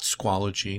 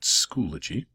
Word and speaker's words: Schoology: Not Squology, not Schoology, but Schoology.